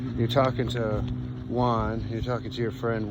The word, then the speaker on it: Juan: like with a huh like an h kind of sound in spanish in this case it's